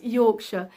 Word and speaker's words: Yorkshire: How to pronounce Yorkshire. Yorkshire. Yorkshire. That's pronounced differently in America and Canada, isn't it? They pronounce it Yorkshire. We just say Yorkshire.